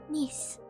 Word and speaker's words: niece: Niece. What rhymes with niece? Because knees is almost more like a z sound, right?